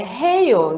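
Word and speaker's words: 해요: Não, é heio. Depende também da forma que a pessoa vai pronunciar.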